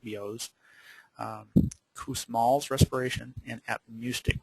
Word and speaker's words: Biot: hyperpnea chain Stokes respirations bios respiration it looks like biots but it's it's appropriately pronounced bios um Cals respiration and